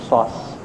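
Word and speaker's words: psoas: वो श्वास मेजर का वो पी थोड़ा सा साइलेंट है, एकदम भी नहीं, बट थोड़ा सा. श्वास.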